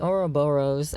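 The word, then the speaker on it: ouroboros: star of David in the middle and the oroboros I think I'm pronouncing it right which is basically the serpent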